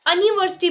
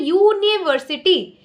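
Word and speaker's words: university: ऐसा नहीं है कि हम अनिवर्सिटी बोल रहे हैं, हम बोल रहे हैं यूनिवर्सिटी। तो क्योंकि यूनिवर्सिटी का जो यू है उसको हम यू के तरह ही प्रोनाउंस कर रहे हैं, इसलिए हम यूनिवर्सिटी के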